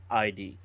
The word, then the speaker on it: Gaid: It's pronounced Guyd, Gaid.